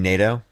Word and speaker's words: NATO: who's also funding Ukraine you mean NATO NATO NATO that's n-a-t-o I mean it's you know it sounds the same no I just like I like how you pronounce it natto is it NATO Renato it's NATO NATO I've heard natto I